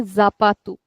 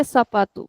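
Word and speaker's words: sapato: is s like sapatu we don't say zapatu we say sapatu because here the word is beginning with the letter s but only if the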